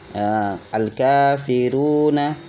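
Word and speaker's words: الكافرون: Setelahnya juga demikian, al-kafiruna. Al-kafiruna. Al-kafiruna. Diperhatikan panjang pendeknya, ya. Al-ka, ini ka panjang karena ada alif wasal setelahnya.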